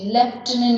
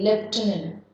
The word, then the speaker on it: Lieutenant: See the pronunciation. L-I-E-U-T-E-N-N-T. Lieutenant you say. Lieutenant.